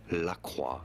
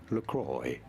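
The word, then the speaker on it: LaCroix: Laqua. That's what I used to think you said it as. But being an American brand, it is to be said as Lacroy.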